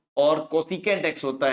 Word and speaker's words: cos: ऐसे ही पूरा नाम कोसाइन होता है, कोसाइन। तो कोसाइन एक्स में ये स्पेलिंग होती है, तो हम इसको बोलते हैं कोस एक्स है, ठीक है।